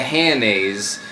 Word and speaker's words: Hanes: reporting to my teacher Mr Hanes it rhymes with mayonnaise he was like why